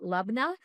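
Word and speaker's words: labneh: It's sometimes people pronounce it Lubna, but I grew up saying Lubin. We kind of just swallow the NEH, which is kind of like a very thick Greek yogurt.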